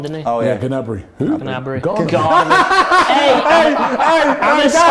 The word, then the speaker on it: Gnabry: Garnaby. That was grand. Sounds like he plays for Birmingham, doesn't No, he? come on, that's the worst pronunciation I've ever heard. Garnaby. Gnabry.